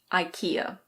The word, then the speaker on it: IKEA: I think in Swedish it's pronounced IKEA. Something like that. But in English we pronounce it IKEA.